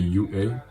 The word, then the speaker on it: UA: Prononcé à l'américaine ça fait UA et je te parle pas du lycée.